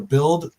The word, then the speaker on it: Bild: No, according to the Bild, right?